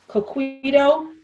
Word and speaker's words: coquito: So Mimi, have you ever heard of, I'm going to say it wrong, Ronnie, you might have to help me, coquito before?